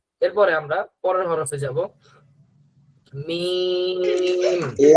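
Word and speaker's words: ميم: ধরেন দুই ঠোট মিলিত মিম দুই ঠোট মিলিত অবস্থায় শুরু হবে। উচ্চারণের সময় ঠোট দুটো ফাক হয়ে যাবে। উচ্চারণটা শেষ হবে। আবার দুই ঠোট মিলে। শুরুতেও দুই ঠোট মিলানো থাকবে। উচ্চারণ হওয়ার পরে আবার দুই ঠোট মিলবে। মিম মিম হ্যা সবাই বলি মিম এরপরে নুন নুন যেবার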